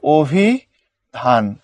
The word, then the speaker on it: অভিধান: রস্যই আসছে, এর মানে অটা কি হয়ে যাবে, ও এর মতো হয়ে যাবে। তুমি অভিধান পড়তে পারবে না, পড়ার সময় তোমাকে ওই যে দেখো উচ্চারণ লিখে দিয়ে রাখছে, তোমাকে পড়তে হবে অভিধান। আমি কি বোঝাতে পারছি?